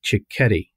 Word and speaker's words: Cichetti: a fellow named cicchetti and he pronounces that like spaghetti is that right